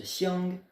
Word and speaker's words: 想: que l'arbre et l'œil, quand ils sont ensemble, ça se prononce xiang. Donc tout ça, ça donne la prononciation xiang.